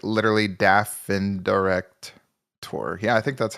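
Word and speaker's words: Daftendirekt: me on this pronunciation it kind of has like German pronunciation dind director like literally Daffin direct Tor yeah I think that's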